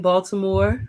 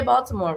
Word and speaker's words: Baltimore: didn't say it right he didn't say baltimore right now yeah there's no t in baltimore okay the t is silent aj about to